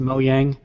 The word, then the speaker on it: Mojang: ass of the podcast and say it's actually pronounced mojang all right and also it's not official yet